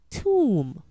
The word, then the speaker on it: tomb: rubber rubber blubber rubber B is silent when it follows m as in com limb Tom com limb tomb B is also silent